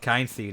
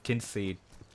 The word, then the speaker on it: Kynseed: on my main channel it's not kind seed it's kinseed so yeah you'll have